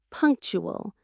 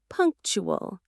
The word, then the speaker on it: punctual: Two syllables. Punk tool. Again, punk tool. The stress is right at the beginning. Punctual. Say it with me. Punctual.